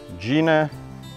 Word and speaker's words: Geena: and let's start with Gina Gina the hyena she actually got her name with the spelling um Gina not g-i-n-a it's actually G e e n i La Carina or pronounced like hyena Mrs watch out for